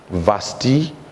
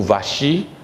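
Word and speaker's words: Vashti: il a voulu que sa femme Vasti ou Vachi, selon la prononciation de chacun, vient avec sa beauté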